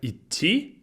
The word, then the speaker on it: идти: It's like a little bit of a pause in the d, in the d and t sounds.